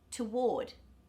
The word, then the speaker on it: toward: Toward. Ward is the stressed syllable, so the TO in the beginning becomes T.